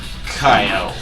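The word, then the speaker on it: Kiyo: And its nickname is spelled K-I-Y-O. Kyo.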